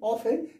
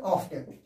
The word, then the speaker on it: often: यहाँ पे आ गया ना, यहाँ इसलिए why doesn't he ऑफन tell a लाई टू us here. ऑफन इसको लिखते हैं ऑफ्टन, लेकिन यहाँ टी साइलेंट हो जाता है, OFTEN होता है, ऑफ्टन